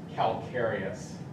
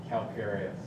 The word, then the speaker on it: calcareous: that's a weird word you might not be able to pronounce that it's calcareous calcareous calcareous is what is calcareous